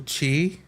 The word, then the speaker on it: qi: It's uh but uh in Japanese it's key. In Chinese, it's chi.